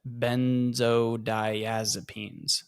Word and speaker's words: benzodiazepines: Benzodiazepines.